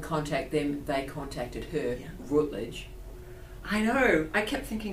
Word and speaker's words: Routledge: Routledge? Is that how you pronounce it? Yeah. Routledge.